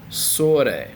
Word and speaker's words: sore: It looks like sore, but you got to remember the vowels. O-A. Selamat sore.